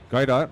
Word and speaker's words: Godot: And now we have something like Godot, right? Yeah. Which is, am I pronouncing it right? Godot or Godot?